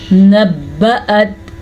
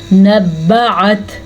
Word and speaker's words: نبأت: نبأت, اکثر لوگوں کو میں نے نوٹ کیا ہے وہ حمزہ کو عین کی آواز میں پڑھتے ہیں, یعنی کہ وہ پڑھتے ہیں نبعت. یہ غلط ہے, آپ نے ایسے نہیں پڑھنا, آپ نے پڑھنا ہے نبأت, ٹھیک ہے.